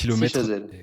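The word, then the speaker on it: Scy-Chazelles: Robert Schuman a vécu à Sichezel en Moselle, dites-moi si je le prononce mal, Si Chazelle.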